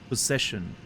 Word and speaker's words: possession: It's just possession. You've been possessed. Possessed? By possession. By possessions? Yeah, possessions. It's a Z, yeah. I mean, you pronounce it as a Z sound.